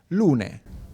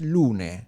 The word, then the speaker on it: Lunae: You pronounce Lune. Lune. Okay. Because it's a Latin name.